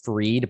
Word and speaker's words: Fried: i love domain names my last name is freed but it's spelled like fried and from as early